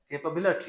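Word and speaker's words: capability: है जो गलत है कैपेबिलिटी केप बिलटी स्ट्रेस जो है लव्स पे वो बिलटी प होगा कैपेबिलिटी इसमें प्राइमरी और सेकेंडरी स्ट्रेस आ रहे है कैपेबिलिटी देन देर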